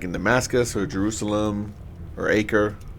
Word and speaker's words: Acre: Damascus or Jerusalem or acre or akar I think is actually how you pronounced well done the differentiates